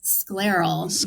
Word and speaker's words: scleral: Oh, can you spell it? You're saying a squirrel. Sclaral.